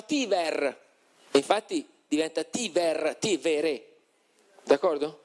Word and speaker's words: Tiber: Che il fiume di Roma si scrive Tiber, ma si diceva Tiver, infatti diventa Tiver, Tivere, d'accordo?